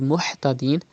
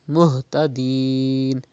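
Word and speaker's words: مهتدين: Now it is Ha. You have to pronounce from the bottom part of your throat. Do not read Muhtadeen, but it is Muhtadeen.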